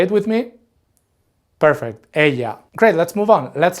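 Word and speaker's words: ella: going to to be Aya and be careful with this last one because even though it has two L's it's pronounced Aya can you say it with me perfect Aya great let's move on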